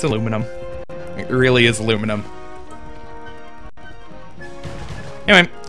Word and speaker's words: aluminum: try to tell me that I'm pronouncing aluminum wrong because I instead I could be British and add in an extra two syllables where they don't need to be added and say aluminium.